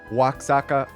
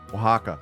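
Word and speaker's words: Oaxaca: I I know I did not pronounce that correctly. Waka cheese. I don't remember. Um, yeah, Mexico. Definitely thinking Mexico. Very nice. Wajaka, thank you.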